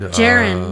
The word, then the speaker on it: Jaren: And Jaren, like Karen, spelled with a J.